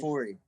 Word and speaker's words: Afuri: Afuri.